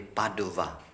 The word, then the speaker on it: Padova: dois raised in Italy no it's actually Padova no but in Spanish it's Padua brothers and sisters there